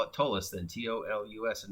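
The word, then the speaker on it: Ptolus: don't think it's pronounced tallest i don't think you use the p the p is silence because it's spelled p-t-o-l-u-s but from the way i've heard people pronounce it it's the p is silent and it's because patola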